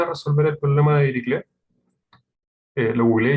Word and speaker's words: Dirichlet: El objetivo de esta pregunta es resolver el problema de Dirichlet. Lo googleé y efectivamente se pronuncia Dirichlet, no Dirichlet.